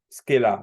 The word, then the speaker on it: Scala: Because it's easy to say scalar because scalar vector, but it was actually Scala that is called anyway.